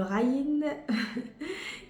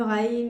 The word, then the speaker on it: غ: qui c'était un petit peu difficile pour la prononciation, mais pour aujourd'hui, c'est le R, c'est le Raïn. Le Raïn, et ça reste une lettre avec un peu d'effort acquis facilement.